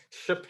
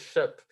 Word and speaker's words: SHPE: thanks for correcting me i've been saying shape i didn't know it was ship even though the acronyms